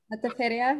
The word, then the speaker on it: Metaferia: Metaferia. Metaferia. Metaferia, yeah. But you don't have to roll the R. You can roll the R, but not everybody can roll the R. So. Metaferia, I've heard.